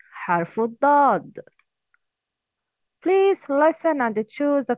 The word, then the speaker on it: ضاد: Yes, it's emitted from the side of the tongue.